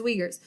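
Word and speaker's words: Uyghurs: restricting human rights for example let's take the we Gers there the uig hu r s so not ever know i thought i was supposed to say it but that is actually the correct pronunciation is wiegert's so the leaders actually they're having re-education camps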